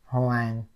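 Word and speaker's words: Hoàng: bit okay so you get a correct Vietnamese pronunciation here soang hang this mean Mr okay drop okay now letter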